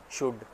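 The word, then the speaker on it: should: शुड, इसमें L silent है।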